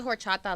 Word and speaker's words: horchata: I know y'all don't say the H.